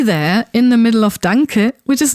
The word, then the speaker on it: danke: You don't want to pronounce the N sound like at the end of man, but it should sound rather like the sound at the end of ring.